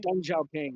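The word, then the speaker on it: Deng: Um, what there's a lot of people out there who think that like um is it Dong Xiaoing? Is that am I right pronouncing that correctly? Dang.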